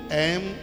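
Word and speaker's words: ऐं: कितना बड़ा प्रभाव है सबसे पहले ए इसका उच्चारण सही कीजिए बहुत लोग एंग बोलते हैं जो एकदम अशुद्ध है बिल्कुल बहुत लोग हनुमान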